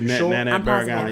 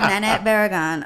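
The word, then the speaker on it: Nanette Barragán: Nanette Barragan. Is that how you pronounce it? That is Nanette Barragan. Yeah. It is Nanette. You phonetically figured that out? Yes, Representative Nanette Barragan.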